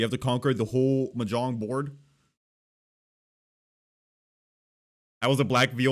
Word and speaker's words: Mahjong: uh they're going Southeast ma Jong I believe that it's the stressed syllable the more you know